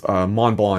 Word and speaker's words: Montblanc: in Western Europe, is Montblanc. It's French, and that's why it's not pronounced the way it looks phonetically, at least from an English speaker's point of view.